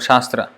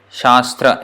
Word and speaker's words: Shastra: or Shastra for example this word Shastra there are how many syllables here - so sha and straw in each of these